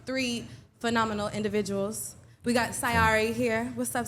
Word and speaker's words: Sy Ari: We got Sari here. What's up, Sari?